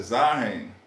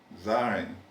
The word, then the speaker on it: Zahlen: números em alemão, Eu não sei se eu pronuncio correto, mas é Zahlen, Zaren.